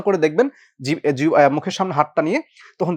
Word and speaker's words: দুঃখ: যেমন ধরেন আমাকে এই যে দুঃখ শব্দটা বললাম এই দুঃখের খটা হচ্ছে মহাপ্রাণ ধ্বনি। যেহেতু এইটা দিতে হচ্ছে তাহলে এর আগের যে ক ছিল সে ক সহ আমার উচ্চারণ আসবে।